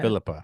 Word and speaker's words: Phillipa: Phillipa. Accent on the first syllable.